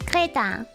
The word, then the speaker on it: Kreta: So we actually went to, how do I even pronounce this in English? Crete? In German it's Kreta. Yeah, that's why I went.